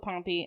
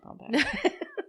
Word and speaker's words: Pompey: never heard the name Pompey. I haven't either. I really did think it was Pompeii. It's not Pompeii. That's a place. It's spelled differently.